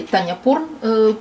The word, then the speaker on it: Тханьяпон: тонизирующий чай гинко билоба производства хотя по или таня пор проще произносить именно так и данный травяной сбор